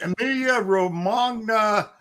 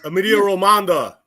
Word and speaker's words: Emilia Romagna: In F1, you've got the Gutter Airways Emilia Romagna. Pook, can you say this? Emilia Romagna.